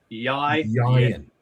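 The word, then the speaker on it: Ieuan: So it is Yan. And the best way I can probably teach people to pronounce it is think Orion, but replace the R with a Y.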